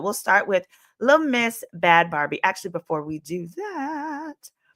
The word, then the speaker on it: Bhad Bhabie: Bhad Bhabie. That's what it is. Bhad Bhabie. Sorry. Not Barbie, baby.